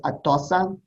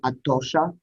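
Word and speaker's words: Atossa: in various persian dynasties her name is atosa or atosha which would be the um persian pronunciation of it and natasha was about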